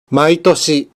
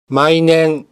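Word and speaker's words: 毎年: Satu cara bacanya, maitoshi. Bisa juga dibaca sebagai mainen. Dua-duanya benar. Yang lebih umum, maitoshi dengan makna setiap tahun.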